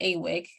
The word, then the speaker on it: AWIC: Its acronym is pronounced AWIC which provides free reference and literature search assistance for questions about Animal Welfare including animal use alternatives.